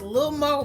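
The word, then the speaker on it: Lil' Mo: to Lil Mo now it's pronounced Lil Mo but I always say little mo whatever you want to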